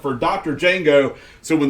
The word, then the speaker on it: Django: is silent for Dr Django so when the D is silent it becomes rajengo okay I'm not sure